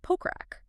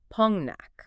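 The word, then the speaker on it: 폭락: Because if you look at the spelling, it essentially looks like pokrak. But because of Korean nasalization rules, which are basically designed to make speech flow more naturally without hard stops, the consonants blend together, so it is pronounced Pongnak.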